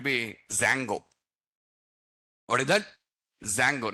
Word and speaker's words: Django: Django, not Django, Django. Okay, D is silent.